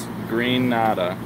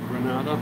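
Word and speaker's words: Grenada: No, they said Greenada. Greenada? Yeah, look. It says green.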